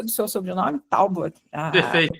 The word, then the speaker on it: Talbot: Talbot. Perfeito. Eu falo Talbot mesmo. Qualquer jeito que as pessoas falam, eu digo que é o jeito certo.